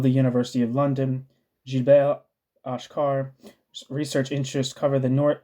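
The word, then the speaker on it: Achcar: London professor jilber AAR AAR or ashar that's how you say his name um jel ashar is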